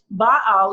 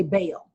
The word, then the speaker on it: Baal: all is the Phoenician god Baal is believed to control the rain so that's what the this challenges and by all is believed or we pronounce today bail but by all is